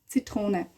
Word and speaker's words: Zitrone: Zitrone. Ne. Tro. So T-R-O. Tro. Trone. Zitrone. Or Zitrone. But it's more like Zitrone.